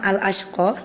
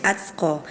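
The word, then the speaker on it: الأشقى: Nah sama-sama al-ashqa, tadi Aila bacanya atsqa yang harusnya huruf shin, tapi Aila tadi dibaca huruf ta, atsqa.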